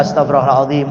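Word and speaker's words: Astaghfirullahal 'azim: Yang benar Astagfirullahalazim astagfirullahalim astagfirullahalim Astagfirullah Akir bacaannya salah-salah sehingga yang benar Astagfirullahalazim Astagfirullahalazim karena kata guru alfqir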